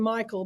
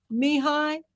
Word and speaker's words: Mihai: I called him Michael, but it's Mihai. Mihai Mihai. is how you pronounce his real name.